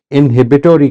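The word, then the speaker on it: inhibitory: आप अंग्रेजी ज़ुबान, ये अभी मैंने आपके सामने एक चीज़ बोली, इनहिबिटोरी कंट्रोल, ये है अमेरिकन प्रोनाउंसिएशन, इसी स्पेलिंग की ब्रिटिश प्रोनाउंसिएशन इनहिबिटरी कंट्रोल है।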